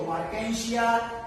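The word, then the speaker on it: Marchantia: Next है मार्केंशिया, pronunciation देखो, मार्केंशिया, एंथोसेरॉस, रिक्शिया, ये सब इसके ब्रायोफाइटा के एग्जाम्पल्स है।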